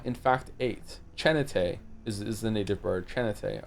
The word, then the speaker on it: Chin8: It's pronounced Chanate. Chanata, not Chan8.